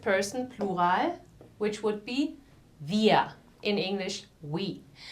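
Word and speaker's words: wir: plural which would be via in English we the W in English is pronounced with the teeth on the lips via and here again the r is not or it's via the second one I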